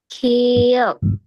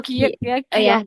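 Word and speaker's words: 키읔: Kiok. He ki kiok bukan ki yaok.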